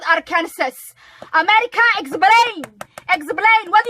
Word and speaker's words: Arkansas: the Fouke Monster in a small town in Arkansas. Yeah, that's right, I said Arkansas correctly this time.